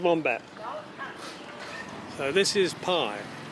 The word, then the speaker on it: Pai: fat herd this is the town of Pi pii pronounced by I believe there's Mrs wbat and